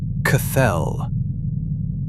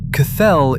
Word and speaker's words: Cthelll: They called it Cathell. Welcome to Beyond the Rabbit Hole. Today we're going 3,000 km down. Cathell, spelled with three L's, is the CCRU's name for the Earth's molten metallic core.